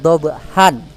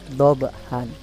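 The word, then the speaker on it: ضبحا: Ini secara tulisan ya, secara tulisan bacaannya kan dhabhan karena ada fathatain. Tapi karena ini di akhir ayat atau ada waqaf berhenti, maka bacanya dhabha panjang. Dhabha ya, bukan dhabhan.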